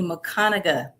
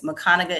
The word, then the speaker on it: Mcconaga: So, my name is Mcconaga. That's how you say it. And believe me, as much as it's been butchered, I've had to say it so many times. So, yes, Mcconaga is how you say my last name.